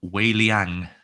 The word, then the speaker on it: Wei Liang: It's Mandarin, it's Chinese as well. So Oh, tell me. my mum's from Singapore. Wei Liang, Wei Liang.